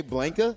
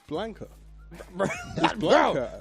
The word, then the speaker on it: Blanka: man I'm saying it correctly did you say blinka I'm saying it correctly who is Blanka what was it Blanca how do you say it Blanca Blanca yeah it's Blanca bro blank he's green he yeah I don't understand